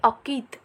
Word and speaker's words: अंकित: जैसे कि यहाँ शब्द दिया हुआ है अकित, लेकिन हम बोलते हैं अंकित। तो अ के बाद जो आधे न का उच्चारण कर रहे हैं वो करते वक्त सिर्फ नाक का प्रयोग कर रहे हैं, इसलिए हम अ पर बिंदु लगाएंगे।